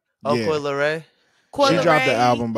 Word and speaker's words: Coi Leray: Coi Leray? Oh, Yeah. Coi Leray.